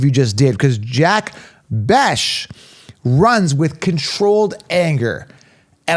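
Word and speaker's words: Bech: I'm excited about this one, is Jack Besh, Jack Beck, Jack Beshy, whatever, right? I think it's Jack Besh is how they pronounce it, right?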